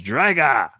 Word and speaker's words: Drago: but how he does Drago it's drga like with in Russian with like an O at the end they always say it like an A and I don't know